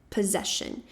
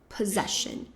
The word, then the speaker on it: possession: Mas na verdade esse esse primeiro grupinho de S que a gente tem aqui vai ter o som de Z. Então, P. Possession. E a segunda sílaba vai ser a mais forte. Possession.